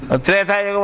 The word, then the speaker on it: త్రైతాయుగం: అది త్రేతాయుగమే కానీ ఇప్పుడు ఇనే త్రేతాయుగమే కానీ సత్యానికి ఆ త్రైతాయుగం. అది మొట్టమొదటి త్రైతాయుగం అని ఉండేది.